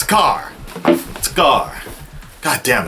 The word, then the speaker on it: Skaar: __ ] up real quick how do you pronounce a car God Skaar it's a car Skaar god damn it's hot in here so there's